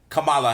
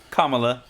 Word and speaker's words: Kamala: It is President of the United States of America, Joe Biden, with Madam Vice President Kamala Harris. Is that how you say it? Kamala, but you know, you close.